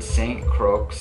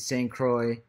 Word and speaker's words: St. Croix: crooks before all the people comment guys he said it wrong I realize it's st. croix Virgin Islands okay just want to make that clear st. Croix not sink ranks whatever I said get back to the